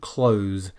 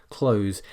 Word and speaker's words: clothes: should never do this clothes is a single syllable one syllable only and so some people